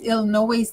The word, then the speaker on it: Illinois: Debbie hey Elisa yes Illinois the S is silent but I don't know